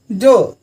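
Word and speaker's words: door: है सो बताए थे जब कभी भी आर किसी भी वर्ड के लास्ट में आता है तो उसको हम साइलेंट कर देते हैं, उस आर के बारे में चर्चा नहीं करते। जैसे सर नहीं बोलेंगे स, डोर नहीं होगा डोर।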